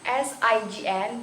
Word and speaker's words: sign: In the word of sign, S-I-G-N becomes sign.